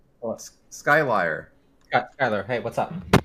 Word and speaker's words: Skylier: Well, Skylier Skyler, hey, what's up? It's not Skyler.